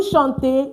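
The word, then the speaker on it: chantent: Vous chantez, you are singing. Il, elle chante. ENT not pronounced.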